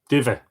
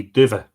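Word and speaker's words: duibhe: Dive. D-U-I-B-H-E. Dive. Thank you for that, Katrina, for the pronunciation assistance.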